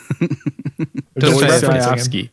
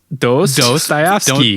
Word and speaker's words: Dostoevsky: Dostoevsky. Dostoevsky. It just sounds wrong. Dostoevsky. Like dose, like two. Yeah, Dostoevsky.